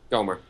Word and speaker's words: Gohmert: Gohmert.